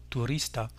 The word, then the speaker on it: turista: On accentuera donc l'avant-dernière syllabe, c'est-à-dire celle-ci, et on dira turista, el turista.